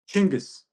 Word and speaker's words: Chinggis: How do you yeah, has what's the proper pronunciation? Chinggis.